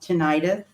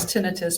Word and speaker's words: tinnitus: to pronounce it the way I think it's pronounced, tinnitus. And explain what that is. The medical term for that is tinnitus, but it's often accepted in the public view as to be pronounced tinnitus.